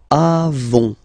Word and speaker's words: avons: Then nous avons, final S not pronounced, avons, okay, and then we